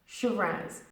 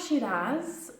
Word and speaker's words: Shiraz: listen and repeat after me shirin's shoot rats Shiraz it's not she does don't be really emphasizing the bells on this one Shiraz she ranks for example I love drinking Shiraz